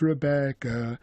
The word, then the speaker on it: Rebecca: to say Johnny loves Rebecca, and they put the stress syllable Becca on that note, and Re goes first.